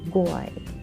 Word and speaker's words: GUI: It is pronounced as GUI.